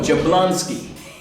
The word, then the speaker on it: Jablonski: No, Jablonski. J-A-B-L-O-N-S-K-I. Yeah. Yes, Spell it for him again, Abdul.